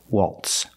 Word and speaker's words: waltz: or Waltz into remember the Z is not pronounced like a z it's pronounced like an S Waltz Waltz in or Waltz into